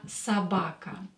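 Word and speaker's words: собака: in the previous lesson when o is not stressed we pronounce it as a Sabaka same here or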